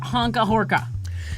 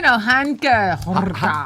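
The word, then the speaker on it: Hanka Horká: So did you guys hear about Honka Horka? So now there is a Czech folk singer. We're pretty sure the pronunciation is Honka Horka, which I think she'd make a fine. It's Hanka Horka. Hanka Horka.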